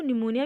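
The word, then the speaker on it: pneumonia: न्यूमोनिया नहीं, इसको निमोनिया भी बोलते हैं। इसमें पी जो होता है वो साइलेंट होता है।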